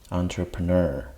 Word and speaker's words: entrepreneur: So that means for this one, it's at the end. So the stressed syllable is the last syllable. Entrepreneur.